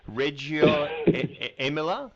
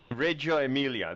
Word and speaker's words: Reggio Emilia: in northern Italy I'm probably not going to pronounce this properly which is sad because I'm Italian but Reggio emily is that is that is that red Emilia Reggio Emilia there you go now that's not far away